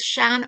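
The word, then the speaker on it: sean: Shan being the English rendering of the Irish word Shan old s ean. Um as opposed to sha which has a father or an accent on the a to give that a sound.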